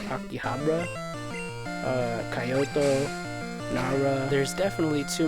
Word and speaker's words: Akihabara: I want to go to I think it's pronounced Akihabara, Kyoto, Nara.